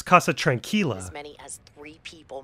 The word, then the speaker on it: Casa Tranquila: The Casa Tranquila (mispronounced) nursing home." Someone tell her it's Casa Tranquila.